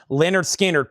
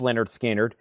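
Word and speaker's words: Lynyrd Skynyrd: And now for $24.99, Leonard Skannard. Pronounced Leonard Skinnard.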